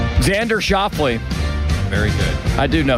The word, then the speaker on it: Xander Schauffele: How do you pronounce his name? Xander Schauffele.